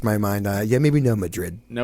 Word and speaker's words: Madrid: Yeah, maybe no Madrid. No Madrid. And And we'll say And it's Madrid. We'll say it wrong intentionally. Madrid. H Madrid starts with mud.